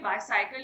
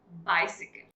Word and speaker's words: bicycle: साइकिल तो ठीक है, सी फॉर साइकिल, बट जैसे ही हमने बाइसाइकिल यूज किया, इज it correct? No, it's called बाइसिकल. सबने अपनी मम्मी को सिलाई मशीन यूज करते हो तो जरूर देखा है, राइट?